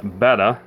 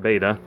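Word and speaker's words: betta: Beta, which is actually appropriately pronounced beta, not beta.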